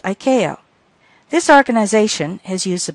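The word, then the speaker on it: ICAO: Aviation organization or iao usually pronounced Iko this organization has used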